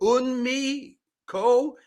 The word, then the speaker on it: Eunmo Ko: Is it Eunmi Ko? Is that the right way to pronounce it, just to be sure?